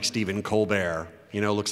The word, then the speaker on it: Colbert: And Hebert is pronounced where the H is silent and the E is pronounced like an A. And the E-R-T is like Stephen Colbert. You know, looks like Colbert.